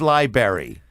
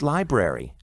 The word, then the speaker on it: library: in and she says liberry liberry fascinate you know it's library not in a knot in franklin township